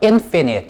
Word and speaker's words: infinite: 그리고 만약에 요 앞에다가 부정접두어 in을 갖다 붙인다면은요, 이땐 발음이 달라져요. 그 강세가, 스트레스가 이쪽으로 받아가지고요, infinite 이라고 읽으시는 거고요. 만약에 이거 없다면은요, finite 이라고 읽으셔야 돼요.